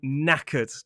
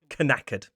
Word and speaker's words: knackered: I am knackered. And notice that spelling KN at the start. The K is silent. So, it's knackered, not kackered.